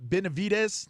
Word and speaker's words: Benavidez: Twitter sphere um there's a big fight David benavidez that's how you say it and my man